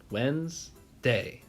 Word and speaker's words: Wednesday: word is Wednesday ah Wednesday now this one is a stinker because it is actually two syllables but I like to